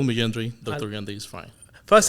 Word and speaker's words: Yendry: yendri it's perfect you can call me yendri Dr yandre is fine first thing I need